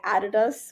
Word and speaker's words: Adidas: So we worked with Adidas, or as I said back in the day, Adidas, which is yeah, technically the correct pronunciation.